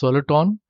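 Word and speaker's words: soliton: acts like a particle hence soluton rhymes with electron when the conditions are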